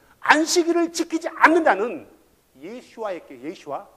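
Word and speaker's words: ישוע: 영어로는 아 예 그 우리가 부르는 예수라는 단어가 히브리 말로는 예슈아 헬라어로는 예수스 라틴어로 예수스 영어로도 한동안 17세기 까서는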